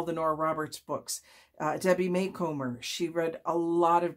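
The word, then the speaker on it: Macomber: I will tell you that I always thought it was McComber, but I attended a conference at one point and she was the keynote speaker and it was Debbie Maycomer.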